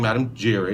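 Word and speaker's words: Madame Giry: away so somebody said so you are playing Madam Jerry am I saying it right right and you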